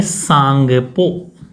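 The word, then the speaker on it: Tsangpo: तक इसका नाम है सांगपो ठीक है ब्रह्मपुत्र वहां पर नाम है इसका टेस्ट साइलेंट रहेगा सांगपो इसका नाम है कहां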